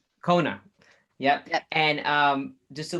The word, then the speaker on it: Quona: That's how you pronounce Kona. Kona.